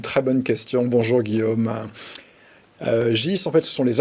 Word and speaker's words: GYS: à l'époque jce et quand on est en allemagne le y se prononce plus donc ça se prononce gus et aux etats unis